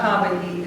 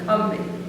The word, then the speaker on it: Combahee: It is not Combahee, it's as in Combahee. And the way I found it out is I was listening to this podcast about the raid on the Combahee River in South Carolina,